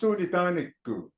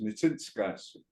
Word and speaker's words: Nitsinskasim: That's not the proper way of saying my name is, right? But it's, it's out there. And, it seems to be universal. That's what they all say, Nitaniku. The proper terminology is Nitsinskasim.